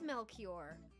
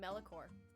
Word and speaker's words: Melchior: I guess it is Melchior. I've always read it incorrectly, because I always called him Melicor. Melicor? Mm-hmm. Melchior. works. Melchior. I just read that as Melchior because that's how I think it's spelled in Spring Awakening.